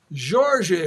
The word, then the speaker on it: Jorge: Jorge is the Portuguese pronunciation, by the way.